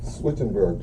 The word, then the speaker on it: Swittenberg: Swittenberg, just like it's spelled.